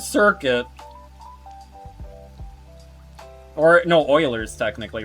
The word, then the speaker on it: Euler: Euler's Circuit. Or, no, Euler's, technically, right? Isn't that how you pronounce it?